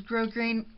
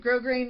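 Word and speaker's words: grosgrain: glittery they all Ed grow grain I think that's how you say it grow grain ribbon ribbon and although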